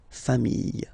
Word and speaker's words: famille: the plural form, les familles, okay? Remember, chien, singular form, chien, same pronunciation, but you put this S, okay? Final S, not pronounced. Famille, singular form, famille, plural form, same pronunciation, S, not pronounced.